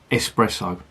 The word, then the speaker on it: espresso: Did I just say espresso? Espresso. That's how it's pronounced.